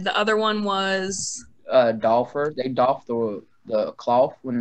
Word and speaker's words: doffer: Those and how do you spell that? DOFFER.